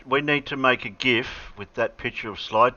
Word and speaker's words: GIF: enough did i say gif correctly sir why do some people say it wrong some people say jeff well it's not a j that's a g tomato tomato no not